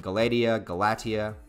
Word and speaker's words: Galatea: And I know I keep mispronouncing her name. Please correct me again. Galatea.